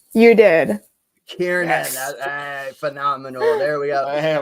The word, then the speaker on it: Kiernan: Did I pronounce that right? You did. Kiernan, yes.